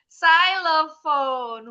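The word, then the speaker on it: xylophone: Namanya di depan depannya pakai huruf X tapi bunyinya bukan X. Ah, yes, betul. Pintar bacanya. Syophone.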